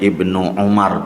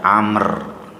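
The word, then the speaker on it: ابن عمر: Hadis yang diriwayatkan dari sahabat Ibnu Umar bacanya Ibnu Umar tidak Amr karena tidak ada wawunya. Umar bin Khattab radhiallahu anhuma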